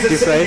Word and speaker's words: Dufresne: Okay, I'm going to let you pronounce her name because I honestly, Dufresne, is that it? Yeah, Dufresne.